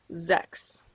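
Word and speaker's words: sechs: halfway there all right six is pronounced sex sex let's count these clouds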